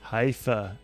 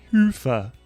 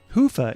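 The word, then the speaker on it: Hyvä: Commerce is sponsored by hia or as the Europeans say Hua or the right way to say it Hua is rapidly becoming the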